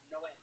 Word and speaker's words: Noé: Like in the Bible, the Spanish translation, it's Noe is Noah, but it's pronounced Noé.